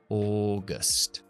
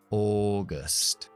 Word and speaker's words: August: Agosto arrancamos con una O larga. Labios muy redondos. O. Y terminamos con una schwa. August. August.